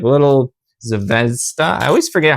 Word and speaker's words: Zvezda: All right, moving along, we have some like little Zvezda. I always forget how to say it. Zvezda.